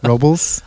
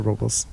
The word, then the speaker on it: Robles: Robles? I think the locals, Robles. Robles. Yeah. That's how the locals say Robles.